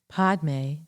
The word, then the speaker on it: padme: Podme, two syllables. The first one, pod, is the syllable that dissolves our attachments to the many prejudices and judgments. And the may syllable helps to dissolve attachments